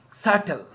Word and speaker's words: subtle: the consonant t so think of this example subtle dead and tau so see in all of